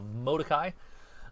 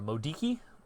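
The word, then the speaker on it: Modoki: Central Pacific based elino we call it a modai or a Modi I've heard it pronounced both ways um and that's usually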